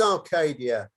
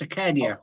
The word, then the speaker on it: Acadia: It is Arcadia. So, It is- David, you didn't say it right. It's Acadia. Arcadia. Acadia. Yeah, There's no R in it.